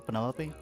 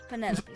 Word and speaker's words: Penelope: Is that short for Penelopey? Officially, yes, but I never can be bothered with all four syllables of it. Penelopey sounds a little ostentatious coming out of the mouth, don't you think?